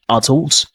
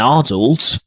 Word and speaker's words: adult: Some words have different stressed syllables depending on the accent. And for example, let's say, for example, in words like adult, in British they say adult, and adult, adult, adult, adult, adult, adult, okay?